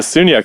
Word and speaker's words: Sagnac: Can you tell me how to spell that? I'm trying to look it up, and I'm not. Oh, Sagnac. Sagnac. It's Sagnac.